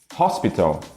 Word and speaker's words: hospital: No português, o H em início de palavras é mudo. Só que no inglês ele na verdade é pronunciado, com raríssimas exceções. E ele tem som de R de rato. Então falamos human e não human. Hospital e não hospital.